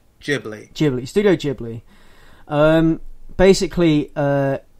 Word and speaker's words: Ghibli: that i think it's i looked up this because i used to say it wrong all the time and i think yeah the right way is ghibli studio ghibli um basically